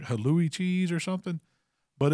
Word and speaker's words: halloumi: pronounce it it's like hallouy cheese or something but it's uh but it what it is it's a denser non-melting cheese it's halloumi halloumi cheese h-a-l-l-o-u-m-i also known as bread